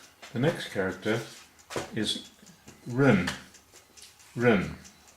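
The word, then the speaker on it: 人: Run is second tone, that's a rising tone, as seen by the line on top there. And if you go to spell it phonetically, well no, not phonetically, but R-E-N usually has a U sound mixed in with it.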